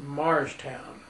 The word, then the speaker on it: Morristown: He was from Morristown, New Jersey, but he pronounced it Marstown.